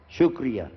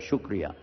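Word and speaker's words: شکریہ: sh to somebody right how do you say it sh shr like this shukria that's it that's what I heard shukria but they said no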